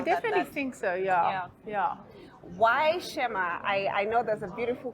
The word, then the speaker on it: Shema: I don't mind, but the actual pronunciation for the word is Shema. So it has an accent between the E and the M.